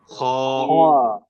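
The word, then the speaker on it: خ: দেখেন হলকের শেষ প্রান্ত যেটা, সেখান থেকে আপনার উচ্চারণ করবেন গইন, গইন, গইন, গইন, গইন, গইন, গইন, গইন, গইন, খ, খ, খ, খ, খ, খ, খ, খ, খ, খ, খ, খ।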